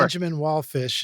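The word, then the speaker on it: Benjamin Wallfisch: Benjamin Wallfish, if I'm pronouncing that right. You are.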